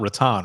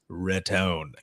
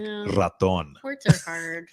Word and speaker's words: Boca Raton: said because it's not rattan right and he goes don't you ever say Boca Raton because it's not rattan it's Raton yeah like Raton look I got it